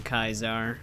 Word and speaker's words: Caesar: extremely smart I mean even Caesar himself pronounces his name kaizar oddly enough because we